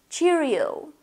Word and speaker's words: Cheerio: Cheerio. Ударение на O. Cheerio. Nighty-night.